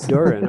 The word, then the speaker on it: Dorian: It's actually the name of my niece, and if you look at it, you wouldn't think it's pronounced Durin, but that's how it is. Durin.